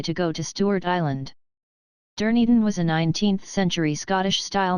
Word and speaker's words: Dunedin: the hotel, and went to the city of Dunedin instead of going to Stewart Island. Most people who go to Invercargill are just passing by to go to Stewart Island. Dunedin was a 19th century Scottish-style new town.